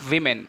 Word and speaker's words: women: end and uh the pronunciation of the word women were not pronounced woman we pronounce women for uh more than one man more than one woman we pronounce women not woman okay and the last